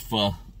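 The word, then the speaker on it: pho: soup or some i like to call it fo but i know that it's pronounced for all you eaters out there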